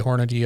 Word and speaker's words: Hornady: Hornaday I'm sorry. Hornaday. You had it's one of those things that that, I have been told how to mispronounce that two different ways. And I know how to pronounce it, but I always make the mistake.